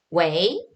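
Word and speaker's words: 喂: 웨이 그러잖아요. 이게 여보세요다? 이성으로 읽어주셔야 돼요. 웨이 이렇게 읽어주셔야 돼요.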